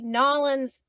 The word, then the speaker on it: New Orleans: And yeah, you're gonna hear either New Orleans, and sometimes maybe if they say it fast, it might sound like Nolans, like Nolans, like New Orleans.